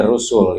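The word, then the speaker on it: رسل: Adapun yang harus bagi sekalian rasul ya bacanya rusul itu artinya yang menunjukkan ee makna banyak atau jamak tiga atau lebih.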